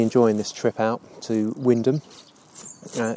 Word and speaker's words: Wymondham: this trip out to windham uh it's an interesting name windham spell wyman town or something like that and another one of those strange sort of norfolk pronunciations windham after i've had my